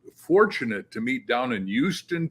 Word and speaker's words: Houston: to meet down in Houston, Texas, which some people mispronounce as Houston, Texas.